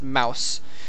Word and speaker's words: mouz: Everyone told me it was pronounced Mouse. So if that is still an incorrect pronunciation of that clan, my apologies, but blame it on my commenters.